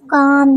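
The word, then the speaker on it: calm: काल्म तो नहीं पढ़ेंगे ना हम क्या पढ़ेंगे काम काम मींस फर सकून ठीक है हाफ हाल्फ नहीं पढ़ेंगे हाफ एल साइलेंट होगा हाफ मींस आधा हाफ हाल्फ नहीं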